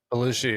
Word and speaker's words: Bellucci: Is that how you say it? Bellucci, yeah. It's Bellucci?